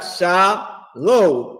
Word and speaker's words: shalom: He got sha low and then with a m. So the oppressor is pronouncing the word correctly and fake Israelites are